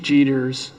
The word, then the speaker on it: Jeter: that one of Chief jeters am I saying it right like Derek Jeter yes sir that chief jeters um folks when they